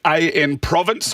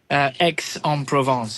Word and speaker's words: Aix-en-Provence: And then in race number 7, you've got AN Province. I probably butchered that. You might be able to help me with the pronunciation of this one. Aix-en-Provence. Aix-en-Provence, thank you.